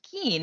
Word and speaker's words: Kuehn: the things that's hilarious my last name is not pronounced ku and it's pronounced keen and i don't know